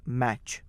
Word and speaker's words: match: साथ में होते हैं, ध्यान रखिए जब साथ में होते हैं तब इन 3 अक्षरों की आवाज भी च ही होती है, टी साइलेंट होता है। जैसे कि MATCH, M की आवाज म, MA इज मै, एंड TCH इज च, तो MATCH बिकम्स मैच।